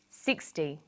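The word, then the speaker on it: sixty: Usually the first syllable in a number is stressed. 16, 60. Notice that it's the final N in teen that you have to be careful with.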